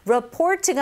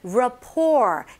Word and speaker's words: rapport: Our good, 여기서는 rapport로 하지만 rapport. 이게 French에 이렇게 영향이 있어서 rapport가 아니라 rapport. T 발음이 없습니다.